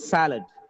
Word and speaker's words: salad: let this beaker here salad salad salad it's not salad it's salad just because of the stress on the first syllable it is pronounced as salad otherwise we would have